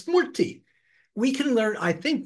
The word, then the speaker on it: murti: It's murti. We can learn, I think most of us in the West can learn a two-syllable word called murti.